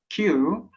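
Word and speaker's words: queue: about q so that's the word q has u e u e silent letters yeah yeah that's right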